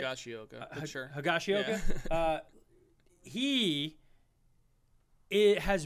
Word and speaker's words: Higashioka: Hashigioka, I'm saying it right? Higashioka, sure.